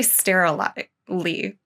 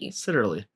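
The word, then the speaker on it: Seiterle: I just want to say Sterilely. I don't know how to say this name. So it's Josef, S-E-I-T-E-R-L-E. Sitterly. Sitterly? As in Sitterly Homes.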